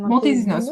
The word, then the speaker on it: Montesinos: les femmes avec Montesinos, oui. On va le prononcer à la française. Montesinos.